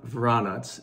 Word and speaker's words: Vranec: have the jordan of varanas as the grape is pronounced in macedonia it's also native to